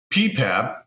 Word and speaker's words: PPAP: not familiar with it ppap is how it's pronounced is essentially a manufacturing